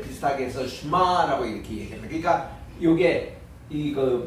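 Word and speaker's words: שְׁמַע: 그러니까 쉐마 하는 것은 너무 강조한 말이고 이렇게는 이 에 발음은 에, 이게 아닙니다. 이 에 하고 예를 들면 이게 무슨 저 쉐골이라든가 세레이든가 이럴 때는 확실히 쉐라고 이렇게 발음해 주는데 이거는 슈바 발음이에요. 그러니까 슈바 발음은 약간 있는 듯 없는 듯 요거를 유성 슈마라고 그러는데 쉐바 그러니까 쉐마라고 읽기보다는 슈마 혹은 슈마 이렇게 읽어요.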